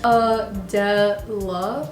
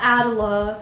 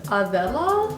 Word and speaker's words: Adela: But yes, my real name is Adela, and it is pronounced Adela. It's not Adela or however other way people pronounce it. It is a Spanish name though, so technically it's supposed to be pronounced Adela, but no one calls me that, so yeah, you can call me Adela.